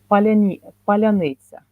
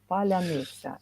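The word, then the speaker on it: паляниця: ask a person to say "paляниця," "paляниця," and Russians can't say it in Ukrainian way.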